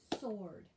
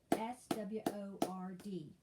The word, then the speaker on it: sword: ford walk p-o-a-r-d w e r answer sword s-w-o-r-d sword listen l-i-s-t-e-n listen wood w-o-u-s would should